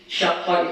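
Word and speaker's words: شقّ: Qultu, aku berpendapat, aku mengatakan, kata Imam Nawawi, qauluhu syaqqa wa huwa bi fathis shin. Syaqqa itu cara membacanya dengan memfathahkan huruf shin.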